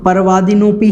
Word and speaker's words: परवादिनोऽपि: अब देखिए, उच्चारण करते समय आपको कुछ बातें विशेष ध्यान रखनी है कि यहाँ पर सबसे पहले तो परवादिनोपि जो यहाँ पर शब्द आया है तो परवादिनोपि ही बोलना है, परवादिनो अपि नहीं बोलना है।